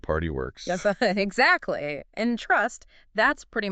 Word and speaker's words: PRTY WORX: Spell it out. P R T Y W O RX. Sounds like party works.